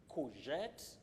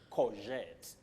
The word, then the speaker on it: courgette: Anyway, we say courgette or courgette. You say ku or ko, but then you say jet, jet. Letter G takes the sound j, just like in casual or mirage.